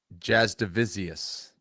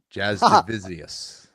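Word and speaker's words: Jasudavicius: But first name Jasmine like the princess, nickname jazz hands but last name is not spelled the way it sounds.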